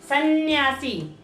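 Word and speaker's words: संन्यासी: न आधे न की और एक और न की साउंड आ रही है, दो आधे न की साउंड आ रही है इसमें। सन्यासी।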